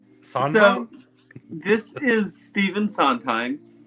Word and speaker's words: Sondheim: Jay, would you like to talk about Oh, yeah, you're gonna have to pronounce that last name. okay. Sondheim? Sondheim?